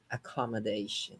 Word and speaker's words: accommodation: But let's break it down into syllables. Accommodation. 5 syllables, and you Okay. stress number 4. You stress the fourth.